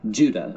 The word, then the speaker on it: Judah: The letter of Jude, or more accurately, Judah, according to the pronunciation of his name, both in Greek and in Hebrew.